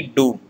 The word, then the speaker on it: doux: Here X word is silent, so it is demi doux.